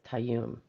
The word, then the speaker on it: Tayyum: Tayyum says you pronounce it right the first time, so it's Tayyum.